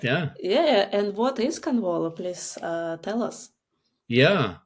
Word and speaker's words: Konvolo: Do I pronounce it correctly? Yeah. Convol. It's correct. Yeah. Yeah. And what is Convolo?